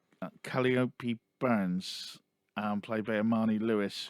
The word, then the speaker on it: Calliope: day again, but from Calipo's. I'm going to say it wrong. I'm going to call her Calipo now. That's not right. It's an ice cream, isn't it? Calliope.